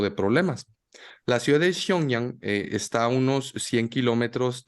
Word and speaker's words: Xiong'an: Disculpen, mi chino no es muy bueno, pero la ciudad se llama Xiong'an. Espero haberlo pronunciado con Muy mal, de hecho dijiste perro atropellado. Muy mal. un perfecto mandarín, Xiong'an.